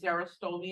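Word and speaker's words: xerostomia: dryness of the mouth it's sarah stoney it's spelled like this there are so many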